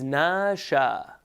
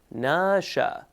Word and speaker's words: nasha: noon Sheen and elip the way you would pronounce this is nasha so you see the two dots going up nasha and remember you do